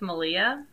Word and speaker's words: Malia: So, I'm like, it's so funny because I love yarn raising with Malia, mm-hmm. who is Rhymes with Maria, but like, she can bust out some stuff.